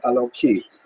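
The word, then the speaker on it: Elokim: context of prayer uh you would say it with a Hy instead of a k and ELO key so I said if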